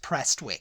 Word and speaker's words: Prestwick: which is near Glasgow oh that's pronounced presswick but maybe it's because